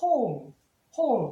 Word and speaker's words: whole: 자, 예를 들면 이렇게 있을 때도 W에서 W 발음하는 게 아니라 whole, W 발음하지 않고 H 발음을 합니다.